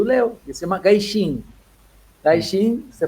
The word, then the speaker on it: gaijin: Gaixin, se pronuncia assim, Leo? Gaijin.